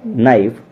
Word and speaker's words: knife: देखिए spelling, KNOW नो, KNIGHT night, KNIFE नाइफ, और knowledge यहां पर सभी में स्टार्टिंग में किए था और उसके बाद एन भी था।